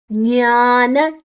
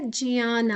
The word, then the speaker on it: ಜ್ಞಾನ: ಆದನಂತರ ವಿಸರ್ಗದ ಉಚ್ಚಾರಣೆ ರ ಮುಂದಿನ ಅಕ್ಷರ ಜ ಇದೆ ಜ್ಞಾನಜ ಜಿಯಾನ ಜು ಮತ್ತೆ ನ ಅದು ನೇಸಲ್ ಜಿ ಜಿಯಾನ ಅಥವಾ ಜ್ಞಾನ ಅಥವಾ ಜ್ಞಾನ ಯಾವುದು ಹೇಳಿದ್ರು ತಪ್ಪಲ್ಲ ಆದರೆ ಸಂಸ್ಕೃತಕ್ಕೆ ಆಗುವಾಗ ಜಿಯಾನ ಅಂತ ಹೇಳ್ತೇವೆ ಯೋಗ ಯೋ ದೀರ್ಘಕ್ಷರ ಯೋಗವ